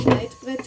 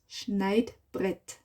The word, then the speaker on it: Schneidbrett: Ich werde ein Schneidbrett verwenden. Cutting board ist Schneidbrett. Schneidbrett. Brett. Rett. R in the back. Rett. Brett. Brett. Schneid. Neid. Neid. Schnei. Schneid. Schneidbrett.